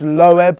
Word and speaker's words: Loeb: guys how's you driving actually think it's pronounced lowb Julia say lowb say